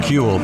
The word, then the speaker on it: Cule: We're here now with Cule. Did I pronounce that right? You did pronounce that right. Yeah, Cule.